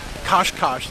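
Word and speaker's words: Cascais: We've been on a bus ride this morning to Kosh, they call it. Looks like Cascades if you look at it in the English pronunciation, but it's the beach area.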